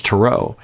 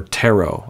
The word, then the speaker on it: tarot: right it just because it has the T at the end that you don't pronounce it's it's been over